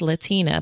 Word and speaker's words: Latina: When someone said the wrong version of my name, I'd say, "Actually, it's Latina, but thanks for trying." Or if they mispronounced it, I gently correct them with a smile.